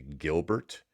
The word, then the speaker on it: Gilbert: While watching the last episode of Loveboat, I was struck with how similar the Gilbert slashfake Gilbert storyline was. It's pronounced Gilber.